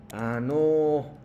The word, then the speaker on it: あのう: Sí, pronunciación nuevamente, es como me preguntó Juan-san, no es anou. No, sino cuando termina una palabra con U, entonces no pronuncia fuerte. Entonces, ano.